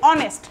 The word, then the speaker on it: honest: এখানে একইভাবে আওয়ার আমরা শিখলাম এইচ ও ইউ আর একইভাবে অনেস্ট ম্যানে দেখেন এইচটা সাইলেন্ট আছে। এইচ ও এনই এসটি। কিন্তু এইচটা আমরা শুনতে পাই না। আমরা খালি বলি অনেস্ট।